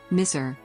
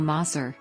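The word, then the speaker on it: مصر: Names: Miṣr, Arabic pronunciation, is the classical Quranic Arabic and modern official name of Egypt, while Maṣr, Egyptian Arabic pronunciation, is the local pronunciation in Egyptian Arabic.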